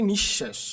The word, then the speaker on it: নিঃশেষ: একইভাবে আমরা বলতে পারি নিঃশেষ নিঃশেষের মধ্যে কিন্তু দেখো এখানে তালবস এর আগে কি বিসর্গ দুইবার আছে কারণে তালুবশ্য দুইবার উচ্চারিত হয়েছে আশা করি তোমরা বুঝতে